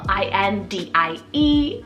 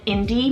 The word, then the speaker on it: Indie: means this girl filled with life in these i-n-d-i-e Indie this one is so sweet you can have multitude of different kind of endings you know end with the i i e or even Y and Indie means independent then for something a little bit